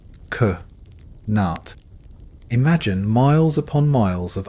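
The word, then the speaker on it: qanat: Kat pronounced k nat.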